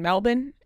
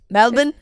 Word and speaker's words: Melbourne: in Australia she had um some shows in Melbourne and why you said that was good like you austr said it like a in a in an ACC that's how you pronounce it melbin it's pronounced melbour I know I think I